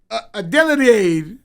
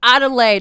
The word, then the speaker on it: Adelaide: Adelade. Oh, Adelaide.